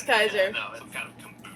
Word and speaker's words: Kaiser: Is it Kaiser? It rhymes with Skyzer Gerbagente. It's Kaiser, isn't it? I think that might be an Herba Mate dealer. Yeah, It's Kaiser.